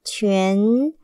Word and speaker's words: 全: 全，七，圆，全，二声全。